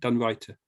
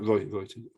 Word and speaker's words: Reuter: How do you say it? Reuter. Reuter. Like the news agency with the in it. Reuter.